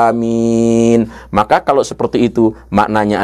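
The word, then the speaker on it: آمين: Yaitu A-nya dibaca panjang, minimal 2 harokah, lalu mengikuti mat badal ini minnya dibaca panjang 4 sampai 6 harokah. Amin.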